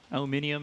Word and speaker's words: aluminium: I cast a lot with, like, Mofara, so aluminium is definitely getting into my vocabulary.